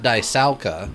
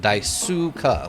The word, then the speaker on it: Daisuke: So not Daisauka, but Daisuka, like sue the person. Or sue as in I'm suing you for money.